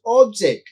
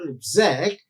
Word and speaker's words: object: syllable then that becomes object which is a noun but it's same word if you stress the second syllable exact it functions as a verb so you must think